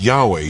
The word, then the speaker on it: Yahweh: That's the standard translation of YHWH pronounced by many as Yahweh today. Jews out of reverence often